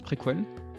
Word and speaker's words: préquelle: Et oui, ça se prononce préquelle.